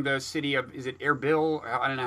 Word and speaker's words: Erbil: verge of storming the city of, is it Erbil? I don't know how you pronounce it. Erbil, yeah.